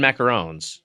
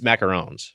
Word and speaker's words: macarons: There's macaroons and macarons. Is it 1-0 or 2? 1-0. Then it's macarons.